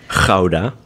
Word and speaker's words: Gouda: so in the future, Gouda. So it's not Gouda cheese. It's not Gouda, it's Gouda. Gouda. Gouda, right? Gouda. Gouda. It has that K sound. Very guttural G, yeah.